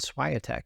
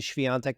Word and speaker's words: Świątek: And the guy, the sports anchor said Swiatek. He said Iga Świątek. I was like, dude, we can't say that. We gotta learn how to pronounce her name. Iga Świątek. Hopefully, let me know in the comments if I'm getting that pronunciation a lot better. I say Iga Świątek now.